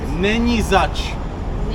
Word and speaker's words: Není zač: Není zač. Ni Zač.